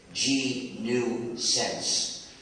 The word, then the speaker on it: gNewSense: Y también hay GNUsense, que lleva un nombre gracioso también, porque se escribe GNEWSENSE, GNUsense. Pero la broma es que mi título como jefe del proyecto GNU es Chief GNUsense, escrito de otra manera, GNUsense.